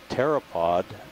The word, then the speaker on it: pteropod: by the way is pteropod with a silent p at the beginning meaning wing foot all